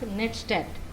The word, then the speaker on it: netstat: The network statistics, or it should be pronounced as netstat.